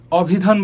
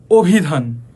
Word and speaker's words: অভিধান: তবে দেখো অভিধান। আমরা কিন্তু কখনোই অভিধান বলি না। বলি কি? অভিধান।